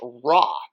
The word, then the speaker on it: Ra: we notice that the first glyph is raw the sun R A the little three Mark being the ah pronunciation Mark which we talked about